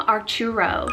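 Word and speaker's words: Arturo: onto the boys side i have the name archuro spelled a-r-t-u-r-o and this one's a spanish italian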